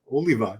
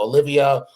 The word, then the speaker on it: Oliva: It's they they say Sergio Olivia or if you're dumbass Tony Dhy and you announce me at my first Arnold and you say Sergio Oliver.